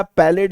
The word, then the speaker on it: Palade: तो आप इनको पैलेड भी बोल सकते हैं, इनको आप पैलाडे भी बोल सकते हैं।